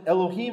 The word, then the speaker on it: Elohim: Why are we to pronounce it Elohim at this point? Because Adonai, the actual word Adonai, comes right before it. Okay? So here's Elohim, and here's the vowels that are on Yod He Vav He. It tells us, pronounce it Elohim. Those are the vowels of Elohim.